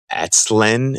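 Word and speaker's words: Aztalan: Like in Wisconsin, we have a state park called, I think, if I have the pronunciation right, it's Atzlen. It's Atzlen. It's like Atlantean.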